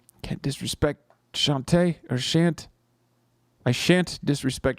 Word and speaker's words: Shantae: It's Shantae.